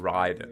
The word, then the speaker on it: Raiden: It's pronounced Raiden. Right? They say Raiden, and but yeah, No, like imagine being at E3 in 2001, right?